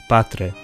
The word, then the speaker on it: patre: are unaspirated so they're pronounced without that puff of air in or H sound that often accompanies them in English so this word is pronounced patre not this is to